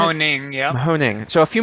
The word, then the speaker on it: Mahoning: Mahoning, yeah.